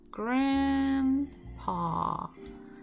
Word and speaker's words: grandpa: So in English language, we will put the stress, it will be like a straight little dot. It will be before the first syllable, grandpa.